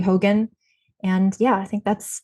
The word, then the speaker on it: Hogan: And Hogan, like Hulk Hogan.